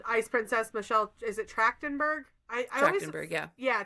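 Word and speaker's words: Trachtenberg: uh actress in Ice Princess, Michelle, is it Tractenberg? I I always Yeah, Tractenberg. I always fear I'm going to mispronounce it, but passed away um like super young recently.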